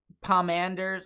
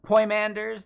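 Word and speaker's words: Poimandres: God it's also by pomanders panders that's how they pronounce it dude panders creat so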